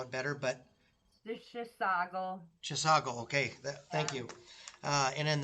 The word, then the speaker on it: Chisago: of, I don't know if I'm going to pronounce this correctly, you probably know it better, but The Chisago. Chisago, okay, thank you.